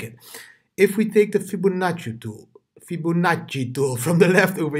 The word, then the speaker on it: Fibonacci: Yes, pronounce it like that, DIDI, Fibonacci, like an Italian.